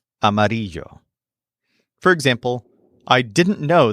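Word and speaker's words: amarillo: these buildings Gray the word for yellow is amario spelled a m a r i l l o amario for example I didn't know the sky could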